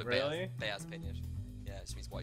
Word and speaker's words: peynir: It's actually it doesn't have an S at the end, but like they sort of pronounce an S kind of at the end of it. Peynir. Peynir. It's peynir, but they pronounce it peynir. It sounds dangerously close to penne.